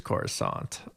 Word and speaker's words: Coruscant: I believe it's Coruscant. Coruscant. I believe... like a croissant, but Coruscant.